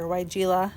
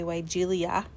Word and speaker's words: Weigela: Weigela. Matt makes fun of me how I say it, because I want to say Weigelia. That's not right.